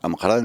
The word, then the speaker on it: Amqran: a pas d'Ouadi al-Baqar, c'est que ce géographe historien a mal entendu, si vous voulez, un nom prononcé en amazigh, rifin. Amqran. Amqran.